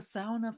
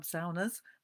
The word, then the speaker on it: sauna: I wonder if you're a sauna fan. Do you go and have saunas? I'm using the Finnish pronunciation, sauna. Um, in England, we say sauna, but I actually grew